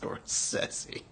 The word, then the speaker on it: Scorsese: It's pronounced Scorsese.